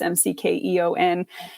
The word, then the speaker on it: McKeown: My pen name is McKeown. It's McKeon. You're never going to be able to pronounce it because it doesn't look like what it sounds like.